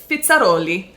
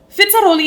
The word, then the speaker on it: Fizzarolli: fandom and that is fitzeri and Aussie you guys are going to be like why are you saying it like that I'm learning Italian so that's how it would be pronounced in Italian if you are Italian